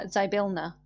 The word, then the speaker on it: Zybilna: wrong as well actually in a hurry uh zybilna so z y p i l n a